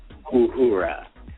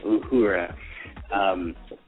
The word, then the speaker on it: Uhura: But before we get started, I just wanted to point out that I've mispronounced Sister Sakina's last name. It's Uhura. So that's right. with a comma, a mark on it, and then Uhura.